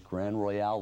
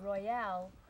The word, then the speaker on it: Grand Royal: It's Grand Royal. It's spelled... People have been saying Royale. Even though there's no E on the end of it, it's just a thing people do.